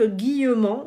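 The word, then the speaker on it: Guillemant: c'est un physicien français non c'est pas Jacques Guillaume c'est Philippe guillauman donc Philippe guillauman ça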